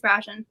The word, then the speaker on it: Brashen: It was, I don't know how to pronounce. I say Brashen. Yeah, it's Brashen.